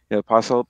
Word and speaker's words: apostle: He's like, Apostle has a silent T.